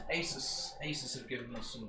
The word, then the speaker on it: Asus: Yeah, so it's Asus. Asus have given us some goodies to... Asus? Yeah. Asus. Asus. Asus. Like Pegasus. It's a Zeus. It's definitely a Zeus. It comes from Pegasus.